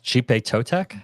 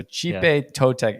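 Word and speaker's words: Xipe Totec: It's I think it's Chipe Totek. That I was going to say. I think the X is actually pronounced as a C because the IP. So Chipe Totek.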